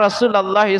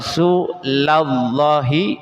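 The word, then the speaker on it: رسولَ الله: Jadi lam di sini diberi harakat fathah ya. Kenapa? Jangan dibaca anna rasulullah. Tapi anna rasulallahi sallallahu alaihi wasallam.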